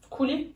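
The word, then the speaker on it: كولي: Pour la femme, on coulis dit de couli. fraises qu'on met sur le cheesecake. Non, c'est couli. Ouais, c'est couli. Couli. Donc mange. Et pour un mec, on dit cool. Cool. Attends, quand tu t'adresses à une femme, tu dis couli. Quand c'est un mec, tu dis Cool.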